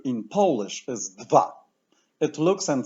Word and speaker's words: dwa: However, the letter W is almost always pronounced as V, as in vet, voodoo, ventriloquist. Let's pronounce both letters. D, V, V. The numeral 2 in Polish is dwa.